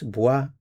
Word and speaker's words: bois: Okay, so we have our forms, bois, bois, bois. Notice these three are pronounced the same.